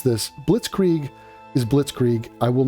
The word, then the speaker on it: Blitzkrieg: Blitzkrieg.